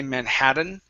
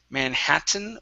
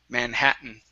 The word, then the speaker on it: Manhattan: here okay now yes the Double T is pronounced like a flap T unless there is a vowel and an N so here here we cannot say Manhattan okay it has to be either Manhattan or Manhattan Manhattan okay good um all